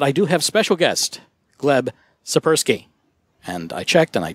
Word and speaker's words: Gleb Tsipursky: David O'Connor but I do have special guests gleb supper ski and I checked and I did actually pronounce that correct you did thank you okay